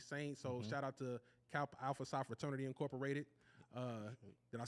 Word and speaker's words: Kappa Alpha Psi: So shout out to Kappa Alpha Psi Fraternity Incorporated.